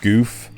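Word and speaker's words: Gouf: The RX-78-2 Gundam, the MS-06 Zaku 2, the MS-06 Zaku 2 Char's Custom, the MS-07, I think that's pronounced Goof, from Mobile Suit Gundam, and the Beam Shield from...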